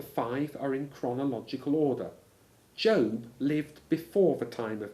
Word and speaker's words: Job: spelled j o and pronounced job to rhyme with robe were he to seek